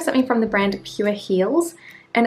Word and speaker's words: Heals: Then we have something from the brand Pure Heals, and it's Heals spelled like H-E-A-L-S, which is like healing something rather than anything else.